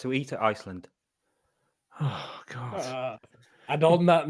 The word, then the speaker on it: Gull: sound so when you their main beer is called Gull gu L but it's pronounced G and they know you from